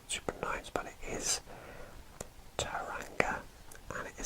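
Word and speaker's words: Tauranga: a bit difficult super nice but it is taranga and it is spelled t a u r a n g a and that is taranga labelled on our map and we will move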